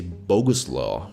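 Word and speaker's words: Bogusław: it in your language you can say Boguslaw which sounds like coleslaw or I don't know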